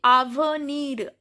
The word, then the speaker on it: avenir: Then avenir. So here R is pronounced.